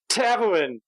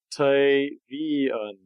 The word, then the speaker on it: Tavian: Tavuin! Tavian is the way I'm supposed to pronounce it, actually.